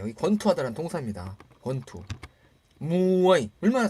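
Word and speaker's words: มวยไทย: 무어이죠. 받침도 우리 이니까 나라마음이니까 생음이에요. 저자음 생음 태생대로. 자, 우리 무에타이 여러분 많이 아시죠? 무에타이. 그 무에타이의 무어이타이거 원래 무의 이름이 무어이거든요. 무어이타이예요. 여기 권투하다라는 동사입니다. 권투. 무어이 얼마나 잘 읽습니까?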